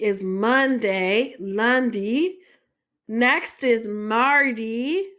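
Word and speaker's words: mardi: Lundy so Lundy is Monday Lundy next is Marty Marty is Tuesday Marty up next is Mery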